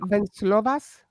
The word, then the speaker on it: Venslovas: Is it Venslovas? Yes, you did say it right.